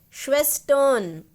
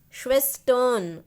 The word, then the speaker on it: Schwestern: Don't try to say Ren. It is not Ren. It is not Ren. It is Schwestern, Schwestern, on, O.